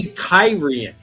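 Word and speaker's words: Cairhien: pronunciations in the book it does say kyen that's how I pronounce it as kyen I pronounce it differently every time I when I was reading it I called it caran until I read caran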